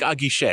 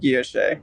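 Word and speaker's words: Guichet: Tank Aguiche, I believe. Aguiche. I said Guilloche. So Tank Aguiche. It's not Guilloche. Guilloche is an entirely different French word.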